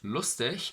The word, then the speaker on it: lustig: other reason for that in german the sound at the end of a word is spelled as i-c-h or i-g so the word lustig could be spelled as l-u-s-t-i-g or i l-u-s-t-i-c h which is know for